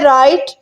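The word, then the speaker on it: write: Next है राइट, लिखना। राइट में डब्ल्यू साइलेंट है।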